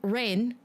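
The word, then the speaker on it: Raen: So R-A-E-N, rain, is a Korean syllable. that is how they write out like katakana, hiragana, all that stuff in Japanese to being bo. So that's why it is the long O sound.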